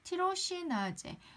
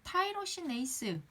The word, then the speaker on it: 티로시나제: 지금 말씀드렸던 것처럼 미백의 메커니즘, 색소 침착이 되는 과정을 티로시나제, 이 발음이 타이로시네이스, 티로시나제, 이거는 우리 익숙한 기존 발음대로 합시다.